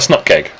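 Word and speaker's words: snupkg: one was that well how do you pronounce snap keg because is it a snoop package that's just silly why would you say Snoop package it's a snot keg or as a symbols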